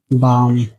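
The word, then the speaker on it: balm: For example B ए एल एम बाम सी ए एल F calf W ए एल के वाक यहां एम के पहले एल लिखा गया। इसीलिए यहां एल साइलेंट है और यहां के के पहले एल लिखा गया। यहां भी एल साइलेंट है। इसे वाक पढ़ा गया।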